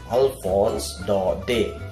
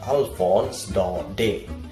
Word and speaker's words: Alphonse Daudet: could not the man speak like that we pronounce it Alfons dark day Alphonse Daudet Alphonse Daudet Alphonse Daudet so that is the pronunciation that is the